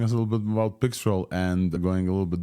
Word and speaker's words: Pixtral: Pixtral is, like the vendor said, is the right way to pronounce this.